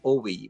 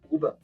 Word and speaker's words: Ove: As when I was asking about your name, in English we say Owe, but how would you say in Norwegian? Ove.